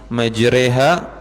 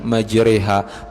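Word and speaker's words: مجراها: Kemudian doa naik kendaraan, subhanallah, bismillahi majreha, bacanya majreha ya, tulisannya majroha. Tulisannya majroha, membacanya majreha. Karena dalam Quran kita itu, jadi Quran itu diturunkan oleh Allah Subhanahu wa taala Bapak Ibu, ada beberapa jenis bacaan, ada 20 jenis bacaan yang sahih. Salah satu bacaannya riwayat yang kita pelajari, riwayat Hafs an Asim ya. Riwayat Asim bacanya itu bismillahi majriha, pakai imalah.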